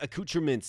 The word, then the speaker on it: accoutrements: It is accoutrements, yeah. I thought I was saying it right.